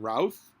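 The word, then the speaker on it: Routh: hairline you've got Brendan Ralph rhymes with mouth short for a nickname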